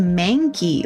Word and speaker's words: Mankey: This says it's pronounced Mankey. Like mang. There's like a G sound in there. Mankey?